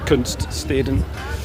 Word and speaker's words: Kunststeden: It's like one of the art cities, as they're called, Kunststeden. You have to pronounce that correctly and carefully.